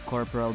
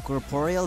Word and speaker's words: Corporeal: So our first stop in this episode is the Corporal Beast. I won't even bother in pronouncing it right since the proper pronunciation sounds really wrong. Corporeal Beast? What?